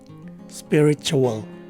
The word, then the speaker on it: spiritual: in the first syllable the first two of its four syllables are pronounced as spelled the following letters t